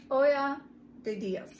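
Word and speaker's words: Ojo de Dios: It's pronounced Olla de Dios.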